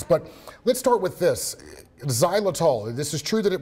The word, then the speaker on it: xylitol: All right, I just learned what the word xylitol, am I saying it right?